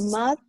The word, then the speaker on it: mouth: La TH al final, y sí, es con la lengua entre los dientes, suavecito.